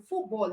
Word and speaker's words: football: they are compound words, just know that the stress is on the first part of the word. And the first part for football is foot. The first part for breakfast is break.